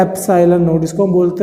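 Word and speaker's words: epsilon naught: इसको हम बोलते हैं एप्सिलॉन नॉट। ये इसका प्रोनाउंसिएशन है, इसको ऐसे बोला जाता है, जैसे एन को बोला जाता है एन, वैसे इसको बोला जाता है एप्सिलॉन नॉट।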